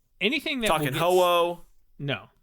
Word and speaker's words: Ho-Oh: anything that Talking will get Ho-Oh? No, not ho-ho. That's not true. Oh, Uh, that's okay. We'll get to pronunciation when we Wait, get to guys, ho-oh.